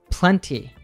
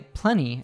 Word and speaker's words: plenty: pronounces the T sound, plenty. In American English, though, we tend to drop the T in some two-syllable words when T comes between N and Y. So I would say plenty instead.